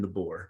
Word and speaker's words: DeBoer: Well, this new coach, Caleb, I always mispronounce Caleb's like DeBoer. Kalen DeBoer. Yeah. DeBoer. Okay.